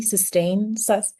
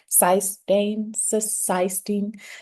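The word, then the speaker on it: cysteine: It's spelled C Y S T E I N E. Sistine. Cyainistine. Sistine. I'm going to call it sistine. just sounds right.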